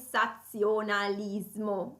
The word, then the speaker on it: sensationnalisme: avec moi le sensationnalisme ici la difficulté réside justement dans leur présence et z dans le même mot donc devoir les prononcer de manière distincte et ensuite traiter le cerveau qui doit traiter précisément la prononciation distincte entre le si le z alors le sensationnalisme qu'est-ce